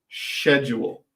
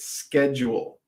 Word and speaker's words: schedule: Canada we pronounce it schedule so you do have the c s c h e d l e it's a hard word to to uh spell but SC just like school right SK schedule schedule schedule yes that's